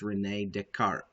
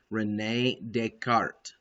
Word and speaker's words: René Descartes: He's a French mathematician. His name is René Descartes. René Descartes. Okay, and so if you hear somebody say Descartes, say, no, it's not the way you say his name.